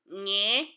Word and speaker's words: nye: The next udampe is nye.